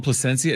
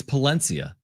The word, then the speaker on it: Palencia: By the way, did I call him Placencia? It's Palencia.